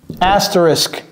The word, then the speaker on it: asterisk: Asterisk. Vous voyez comment j'ai prononcé le t E asterisk.